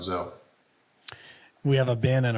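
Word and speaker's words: Gsell: Yes, G-S-E-L-L, but I think it's pronounced Zell.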